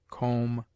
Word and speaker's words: comb: obtains in other languages it is mute in debt debter subtle doubt lamb limb Dum thumb climb comb womb it is used before